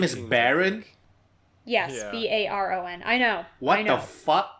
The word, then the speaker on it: Barron: infertile too i know it's spelled differently but it's pronounced the same way i know oh yeah